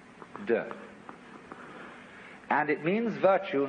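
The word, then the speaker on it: 德: We Romanize it as T-E-H, de.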